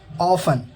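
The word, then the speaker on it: often: टी, अगर किसी शब्द के अंत में TEN हो तो टी साइलेंट होता है। एग्जाम्पल देखिए, हेसन, जल्दी करना। ऑफन, अक्सर।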